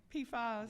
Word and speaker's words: PFAS: Now, am I saying it right? PFAS? Yeah. PFAS, okay.